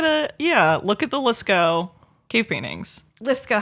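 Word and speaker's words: Lascaux: how do you spell let's go l-a-s l-a-s c a u x I think oh yeah it's French so you gotta have at least 12 silent letters I know I feel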